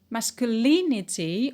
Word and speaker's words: masculinity: is not stressed conjunction masculinity on the antepenult only because of the